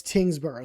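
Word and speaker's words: Tyngsborough: This one is Tingboro. You might look at this and say, "Well, that's a lot of letters." But it's Tingsboro.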